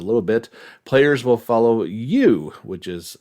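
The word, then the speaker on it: Yuu: story just a little bit players will follow you which is spelled y u u all she wants to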